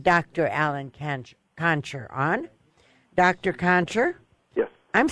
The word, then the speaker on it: Gonsher: Gonsher? Yes. I'm saying your name wrong, aren't I?